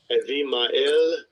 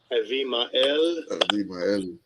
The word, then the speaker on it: Abimael: Avimael. Abimael.